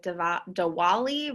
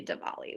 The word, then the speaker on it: Diwali: that it looks like dea Dali but it's actually Dali which is how they pronounce it in places such as India so we're going to